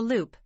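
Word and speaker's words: loupe: also referred to as a loop pronounced Loop magnifies the face to help the esthetician treat and analyze the skin figure 10 3.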